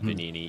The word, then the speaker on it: Benigni: at Italian names but I think they pronounced it benini even though it looks like benigni we need me yeah